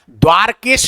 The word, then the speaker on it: द्वारका: बहुत सारे लोग अनुचित वो करते हैं प्रयोग इसका उच्चारण गलत करते हैं। द्वारिका करते हैं। द्वारिका शब्द नहीं है। ये द्वारका है। क्या है इसका उच्चारण? द्वारका।